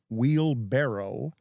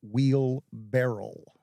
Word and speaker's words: wheelbarrow: since he learned that the word wheelbarrow is not wheel barrel it is not wheelbarrow I've been pronouncing